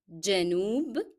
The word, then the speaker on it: جنوب: So don't forget the hidden D before J, جنوب.